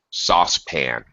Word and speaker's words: saucepan: more or less okay let me slightly correct your pronunciation sauce sauce sauce pan SAU pan sa yeah sauce pan I I don't know what means spin sauce not sa it's not an sometimes occasionally Au makes an ow sign but actually mostly